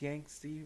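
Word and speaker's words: Yangtze: China from the yanki I think it's pronounced yanki River the yanki yank River and those ones are very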